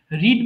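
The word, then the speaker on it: read: এই যে আর ইডি দেখছো না, রিড মানে পড়া, কিন্তু পাস্ট টেন্সে যখন তুমি রিড ব্যবহার করবা তখন উচ্চারণ হয়ে যাবে রেড।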